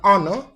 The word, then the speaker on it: honor: Yeah, so all of these, the letter H in them are treated as silent. So we do not pronounce the letter H sound in these words.